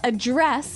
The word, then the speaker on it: address: differently so the verb address has the the stress on the second syllable okay address yes and